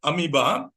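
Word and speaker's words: amoeba: had spelled it correctly amiba spelling is a m o e ba though it's pronounced amiba spelling is a m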